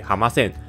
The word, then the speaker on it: 濱線: 的铁路，日语称之为冰线，发音为哈马线，居民便